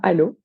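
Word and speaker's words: Allauch: une petite commune limitrophe qui s'écrit à Loches mais qui prononce bien à l'eau avec mon papa ma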